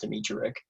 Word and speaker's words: Dimitrijevic: just need your bank that's how you say it in english in serbian it's it's a lot different but in english it's just demetrius a lot of silent